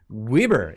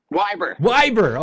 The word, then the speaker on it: Weber: to the channel John Weber. Is it Weber? Weiber. Okay, Weiber. I've been pronouncing it wrong the whole time.